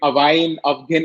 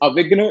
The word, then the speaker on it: Awign: call ourselves as awakener at times it becomes a bit of a trunk twister which i've seen people call it away afghan and a lot of uh you know other pronunciations but when you know that it is a wigner it sort of sticks uh around in your head and uh yeah we